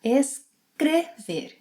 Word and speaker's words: escrever: A similar pronunciation pattern happens with the letter E. For example, escrever, to write. In the infinitive, it has a closed E sound, escrever.